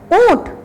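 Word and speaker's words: ऊँट: ऊंट, ऊ में भी अगर हमने चंद्र बिंदु दे दिया तो उसका उच्चारण नाक और मुख से होगा ऊंट।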